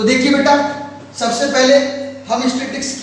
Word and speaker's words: statistics: एक तो इसका जो वर्ड है ना, ये स्टैटिस्टिक्स, इसको बच्चे जब प्रोनाउंस करते हैं तो कई बार गलत बोलते हैं। स्टैटिस्टिक्स बोल देते हैं। स्टैटिस्टिक्स नहीं होता बेटा, ये स्टैटिस्टिक्स होता है।